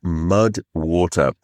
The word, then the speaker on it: MUD WTR: That is where the supporter of today's podcast comes in, MUD WTR. And it is spelled m u d w t r.